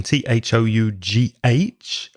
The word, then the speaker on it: though: didn't buy the phone notice the pronunciation of though it's a strange spelling th ough but the pronunciation of the vowel sound is o like go or slow or blow or throw though even though even though